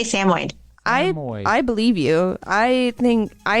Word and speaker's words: Samoyed: I say Samoyed. I believe you. I think it needs to come with a little pronunciation card.